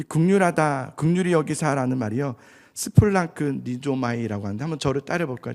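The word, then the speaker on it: σπλαγχνίζομαι: 이 긍휼하다, 긍휼히 여기사라는 말이요, 스플랑크 니조마이라고 하는데, 한번 저를 따라 볼까요? 좀 이상한 말이 발음이 어렵지만 스플랑크 니조마이, 스플랑크 니조마이가 굉장히 중요한 단어예요.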